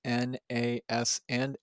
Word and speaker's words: NASA: So all three letters N, A, S, and A are capitalized, and it is pronounced as one word, NASA.